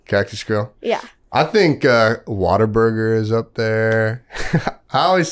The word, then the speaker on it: Whataburger: I think Whataburger is up there. I always say it wrong. And now Blake is upset. Whataburger, by the way, guys. Whataburger.